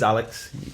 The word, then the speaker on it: Alx: But my name, it is Alex. Like, people call me pronounce Alx.